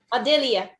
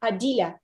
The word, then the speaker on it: Adelia: It's the Western way to say it. I think she is from Tatarstan, and they say it a little differently in original, I guess. Yeah, originally it sounds like Adila. Adila. Adila. Yeah, but I guess, guys, for you it's easier to Adelia. pronounce it Adelia.